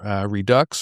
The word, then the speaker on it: Redux: So once a week, Americanism Redux or Redo, R-E-D-U-X. You pick your pronunciation. Okay, yeah, so I went French.